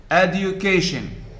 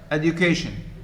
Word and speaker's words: education: or second or third education how many syllables add you okay four which one is trust education the third the k necessary how